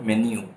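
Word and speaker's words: menu: जाते हैं और उनका मेन्यू कार्ड देखते हैं, please mind the pronunciation of this word. It इज़ not called मीनू, इट is called मेन्यू.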